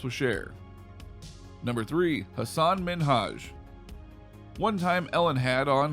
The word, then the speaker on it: Minhaj: was though is that ellen was saying his name is minaj instead of minhaj not cool things got